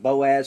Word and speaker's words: Boaz: But Boaz is one of those words that that we are pronouncing as they would have pronounced it.